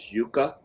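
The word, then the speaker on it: Yuka: an app out there I think the pronunciation is yuca it's y-u-k-a app and you can use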